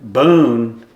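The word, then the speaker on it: Beaune: Boon like Daniel Boone. Boon. Daniel Boone. You just say it a little different.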